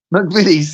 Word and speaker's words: McVitie's: McVitie's, yeah.